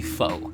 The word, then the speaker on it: faux: I know I say foo, but it's supposed to be faux. It's supposed to be pronounced faux, but I say foo.